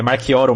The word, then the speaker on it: Marchioro: aqui com a Marquoro. É Marquoro mesmo que pronuncia seu sobrenome, rapaz. Eu vou te mandar uma paçoca depois, viu que você acertou de primeira.